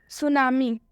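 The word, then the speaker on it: tsunami: सुनामी।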